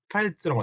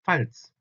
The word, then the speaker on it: Pfalz: 그래서 발음을 팔츠라고 합니다. 팔츠.